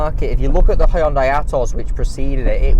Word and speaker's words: Hyundai: It's a right I'm given, and they want us to pronounce it Hyundai now. I believe that is closer to the original Korean pronunciation.